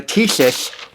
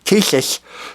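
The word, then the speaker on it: Tisas: it's very cost effective the Tes that's how you say it I don't know if you know that Tes the T d10 now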